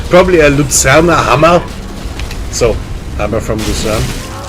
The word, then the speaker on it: Luzern: It can't be pronounced in German. Yeah, in German it's Luzerner.